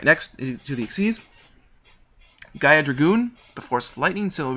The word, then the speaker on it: Dragoon: And yes, that is pronounced Dragoon.